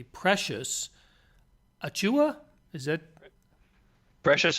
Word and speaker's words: Achiuwa: Let's start with, I hope I'm pronouncing the last name correctly, Precious Achiuwa? Is that? Precious Achiuwa, you got it. At least you didn't have to pronounce his brother's name, which would be easier.